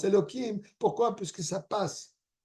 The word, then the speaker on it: Elokim: Teva mais malgré ça c'est quand même prononcé on le prononce Elokim pourquoi parce que ça